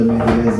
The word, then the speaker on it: Mejia: I am Mejia, which children growing up reminded me rhymes with Aquia.